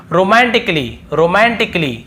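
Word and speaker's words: romantically: और फिर देखिए रोमांटिकली, यहाँ पर भी देखिए ए का उच्चारण नहीं हो रहा है।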